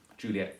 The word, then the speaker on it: Juliet: true and faithful Juliet she has to be three syllables there for the rhyme to work sure so Juliet three syllables Capulet replies as rich